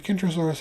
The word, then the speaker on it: Kentrosaurus: However, not only are the names Krosaurus, Centasaurus spelled differently, they pronounced differently with Krosaurus having a kicking K. While Centaurus has a soft C pronounced more like an S.